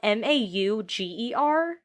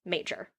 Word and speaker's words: Mauger: his name is spelled m-a-u-g-e-r like it would be you would think would be mauger but it's pronounced major so before anyone says anything it's pronounced major they met at a